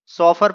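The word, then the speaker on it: chauffeur: इसे दोस्तों सॉफर पढ़ा जाता है, इसका मतलब होता है कार चालक, यानी ड्राइवर एक तरह से।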